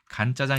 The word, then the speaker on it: 간짜장: 볶아서 만든다 그래서 간자장 간짜장 있는데 왜 이 말을 건 자를 권자는 알겠어요 물기가 적기 때문에 건이다 걸 알겠는데 왜 간으로 했느냐이 발음이 중국어로 건이 아니라깐이기 때문에이깐이라는네 발음을 그대로 가져온 것이죠 그래서깐 자장이 하는데 실제로깐